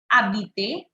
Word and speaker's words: habitez: Où habitez? H is silent. H is silent. Please don't pronounce H.